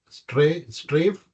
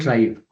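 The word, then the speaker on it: Straive: So quick introduction again uh Anand is uh head of innovation at stray strafe is that right pronunciation strive strive uh which is an enterprise AI u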